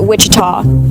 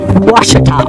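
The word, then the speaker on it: Ouachita: for wasita Baptist University back in Texas everybody pronounces it Witchita but really it's was wash was how would you pronounce it wash it's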